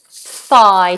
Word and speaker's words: thigh: the leg we have one word that's quite difficult to pronounce and that is th thigh t h f and then I it's a thong so ignore these funny letters just listen to the sound thigh thigh um and then moving